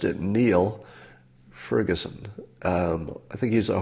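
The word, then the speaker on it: Niall: in the world so is this a proper pronunciation nyle or Neil can anybody clear that up for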